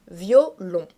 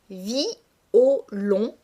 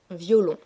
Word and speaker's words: violon: afflige le terme violon se prononce dans la vie courante en deux syllabes violon mais dans ce poème pour respecter l'alexandrin c'est-à-dire pour respecter le verre de 12 syllabes le lecteur est obligé de prononcer distinctement les deux voyelles de la première syllabe c'est-à-dire qu'il est obligé de prononcer violon et non violon ce verre se prononce